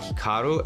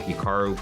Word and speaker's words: Hikaru: more Americanized versus Japanese certainly if I was pronouncing it correctly it would be more like Hikaru as opposed to Hikaru but I've spent so